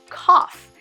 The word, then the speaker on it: cough: Cough. So just like the word rough, GH makes an FF sound.